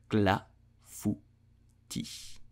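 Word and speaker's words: clafoutis: lukewarm sometime we scream so I'll do you pronounce it in French you will say clavity glass footage CLA fu Tish did you know that traditional limousine clafuti contain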